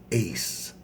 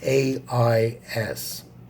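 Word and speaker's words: Aïs: and my favorite uh hades now hades is pronounced but i really really enjoy uh his most ancient name which is ace yeah just ace you know like yeah like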